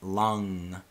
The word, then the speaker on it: Lam: from Hinduism you have Lam vom and then you have om and then you have ah so Lam is pronounced lung so it's like long and then vom is